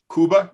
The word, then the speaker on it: Cuba: Cuba, and I believe it's more accurate to pronounce it Cuba. Is that correct, Denise? Cuba.